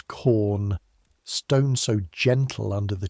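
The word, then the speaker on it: Caen: Normandy from quaries near a town the men pronounce corn.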